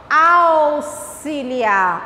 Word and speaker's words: auxiliar: Então, quando é que eu uso o X com o som de SS, que o S vai sair bem puxadinho, bem demorado? Quando ele vem depois da palavra ao.